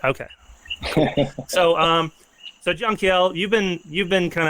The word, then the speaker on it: Jankiel: How do you pronounce your name? Jank. Jeaniel. Okay. Really? Jangiel, not no junkiel.